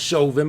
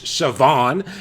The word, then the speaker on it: Chauvin: villain it's based on Derek I know it's pronounced Chauvin but I'm calling the Siobhan it's based on Derek Siobhan and how like callously and just no emotion